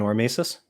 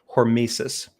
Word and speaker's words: hormesis: Pine Creek believes in Ormesis in what? Let me make sure I'm pronouncing that correctly. It's I believe the concept is hormesis.